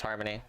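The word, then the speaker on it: Harmonie: has a name and it's Harmony by the way because the unicorn has like it has like a little thing that says what its name is and her name is Harmony, but it's spelled H A R M O N I E.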